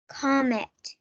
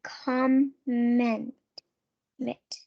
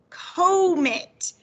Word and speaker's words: comet: this word comet comet what if i separated it after the o that would be comment mit well what sound would the o say if i separate it here it would say that comet comet so you would if you didn't know how to say this word you'd try come it and then you would try comet and i think most of